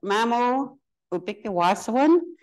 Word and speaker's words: Mamow Obiki-Ahwahsoowin: watch me say it properly so it means Mamo will pick the washer one everyone working together to raise our children so